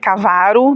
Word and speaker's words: Cavaru: os bairros e aí falou de Cavaru, né, que era Cavaro, na verdade, a pronúncia, e ficou estabelecido então o nome do bairro como Cavaru do distrito, né?